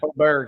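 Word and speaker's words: Åberg: Is that how you pronounce that, Wade? Aberg, yeah.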